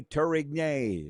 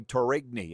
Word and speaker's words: Tourigny: LOL, yes, Andre Tourigny, or as I used to say, Andre Tourigny, and I got thrown under the bus for that.